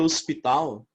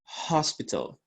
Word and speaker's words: hospital: A própria palavra hospital tem uma pronúncia diferente. A gente fala hospital, ok? Grava bem, hospital.